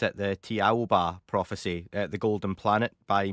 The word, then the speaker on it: Thiaoouba: Uh the author is actually a French Australian and if you pronounce the word in French it is actually Jehovah.